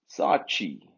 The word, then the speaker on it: Saatchi: This chi is a suffix. That should really be Sa'at. Two A's and another A. Sa'at. Chi.